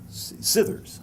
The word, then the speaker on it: Scithers: edited and published by george skithers is it pronounced scithers okay um ran for uh